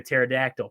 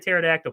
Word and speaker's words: pterodactyl: I was talking about, you know, why can't you hear a pterodactyl P? Aaron, why can't you hear a pterodactyl P? Not a clue. The P is silent, dude.